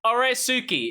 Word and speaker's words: Oresuki: it's Oresuki. It's Oresuki. Oresuki. Or Suki. Yeah, Which me and one is James that? are gonna make a parody of Oresuki.